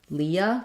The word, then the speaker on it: Leah: And for this name, yes, I think we say that as Leahy. Leahy in U.S. English. Although the woman's name, Leah, we say that as Leah.